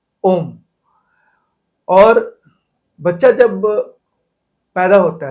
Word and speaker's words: ओम: ब्रह्मांड के तीन साउंड अ उ और म ये तीनों जो है बेसिक साउंड है इन्हीं से मिलकर के बना है ओम और बच्चा जब पैदा